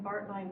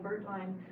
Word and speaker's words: Baertlein: They pronounce, depending on which branch of the family it is, they pronounce Baertlein, Baertlein, Baertlein, so anything you say is fine.